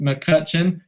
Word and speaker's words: McCutchen: can shout me out my last name is pronounced McCutchen uh like Mike McCutchen okay perfect please let